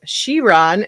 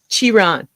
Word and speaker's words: Chiron: I thought it was the Bugatti Chiron, but then I Googled it and they said Chiron and also Chiron.